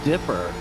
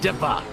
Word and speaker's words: Dipper: It's not the Dipper, it's the Dippa, as they say down under.